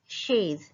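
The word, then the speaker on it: chaise: युन, युन शेज। च सी एच का sound होता है श, श ए स, शेज, युन शेज।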